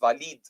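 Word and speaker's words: Waleed: Walid, Yeah, and spelling के हिसाब से pronunciation के ऊपर अगर गौर करें तो it's Walid.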